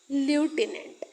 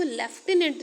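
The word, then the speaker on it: lieutenant: व्हाई he should be लटिनेंट? And friends ये जो लटिनेंट है इसको हम हिंदी में जब लिखते हैं तो इसको लेफ्टिनेंट लिखते हैं। बट इंग्लिश में इसको लूटिनेंट लिखा जाता है।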